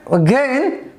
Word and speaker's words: again: So in the word single, the first syllable is stressed and the word again, the second syllable is stressed.